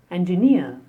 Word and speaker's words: engineer: The next is engineer. I am an engineer. The stress on the last syllable, near. Engineer.